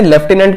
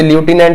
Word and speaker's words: lieutenant: तो ऑप्शन में से लेफ्टिनेंट की जो करेक्ट स्पेलिंग होती है वो ये वाली है, LIEUTENANT। इसे ल्यूटिनेंट भी कहा जाता है अमेरिकन इंग्लिश में।